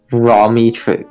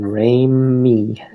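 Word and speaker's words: Raimi: say Ramy okay like rain and then Ray me yeah there we go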